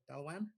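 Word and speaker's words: Dailuaine: Daluan. It's spelled Dailuane.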